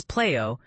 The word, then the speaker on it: PLEIO: The Playo, a streaming sensation, the Playo, pronounced as Playo, is the culmination of NetGM's vision.